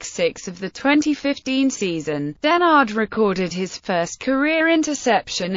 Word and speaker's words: Dennard: personal life denard's last name is pronounced as durard this pronunciation differs from that of his second cousin